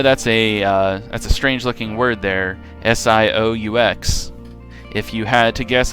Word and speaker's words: Sioux: I know that's a strange-looking word there, S-I-O-U-X. If you had to guess how that was pronounced, you probably wouldn't have guessed Sioux, but that is how you pronounce that. The X is silent.